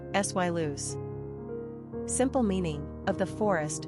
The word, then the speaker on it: Silas: Pronunciation, sy loose.